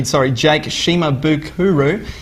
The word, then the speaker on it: Shimabukuro: Kathy accidentally pronounced the name wrong. It's actually, Jake Shimabukuro, and he's the ukulele player.